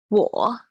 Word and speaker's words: 我: So here it is in the third tone, so your tone should dip to down, so go down to the bottom of your vocal tone, so vocal range, and then up again.